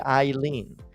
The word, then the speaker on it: Eileen: She wrote Eileen, how to pronounce her name correctly. I'm trying to be consistent and say Eileen.